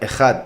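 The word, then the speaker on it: אחד: Se pronuncia Ejad.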